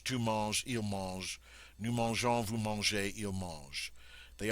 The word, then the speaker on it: mangeons: But notice now the difference in pronunciation. Je mange, tu manges, il mange. Nous mangeons, vous mangez, il mange.